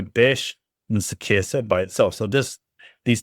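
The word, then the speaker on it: béésh: And basically, you have some metal, and it's pronounced besh.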